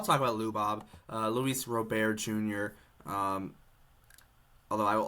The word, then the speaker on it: Robert: but yeah I'll talk about lob uh Luis Rober Jr um although I will always say Luis Robert normally but I'd say Rober just so it's